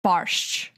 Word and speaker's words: borscht: We should end it here because my mom made red beet borscht, or how the Americans say it, borscht.